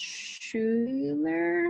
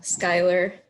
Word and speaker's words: Schuyler: it's for so your last name is pronounced Schuler no Skylar Ayler okay just so